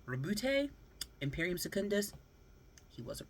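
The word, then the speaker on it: Roboute: I was like, Robute, because when you read it, it looks like it says a robot. But I was like, Robute, got to roll the R. Robute, Imperium Secundus, he wasn't wrong.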